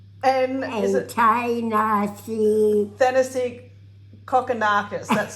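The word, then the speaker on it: Kokkinakis: nick curios yeah and is it nice fantasy cockanakis that's how you say it oh he's got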